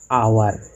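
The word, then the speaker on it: hour: हाँ, एच जो है वो साइलेंट लेटर है और इसका प्रोनाउंसिएशन अ से होता है, आवर, जो वोवेल साउंड है, इसीलिए आवर के पहले एन का प्रयोग होता है।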